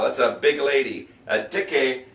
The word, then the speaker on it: dicke: A dicke, they don't have silent E's in German at the end. If there's an E at the end, you pronounce it.